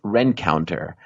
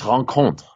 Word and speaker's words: Rencontre: Chance Rencounter. That's insane. It's Chance Rencontre. It's a French.